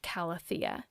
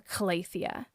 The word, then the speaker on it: calathea: pothos, and the network calathea, or calathea. I heard someone say that on Instagram, calathea, and I had to rethink if I've been saying it wrong. I think actually both are fine to say.